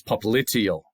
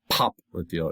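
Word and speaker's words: popliteal: It's poplitial poplitial, not popial, it's poplitial accent on the second syllable.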